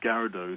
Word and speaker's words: Gyarados: It's spelled Gyarados. It's Gyarados.